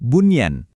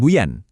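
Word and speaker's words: بنيان: Kata kedua bunyan. Ini juga dibaca jelas bukan buyan.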